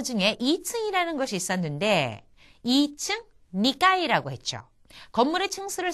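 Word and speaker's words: 二階: 자 오늘 나온 단어 중에 2층이라는 것이 있었는데 2층 니까이라고 했죠.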